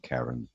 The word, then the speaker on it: Charon: So I was just, Peter and I were chatting about how Charon was pronounced, whether it's pronounced Sharon or Karen or Charon.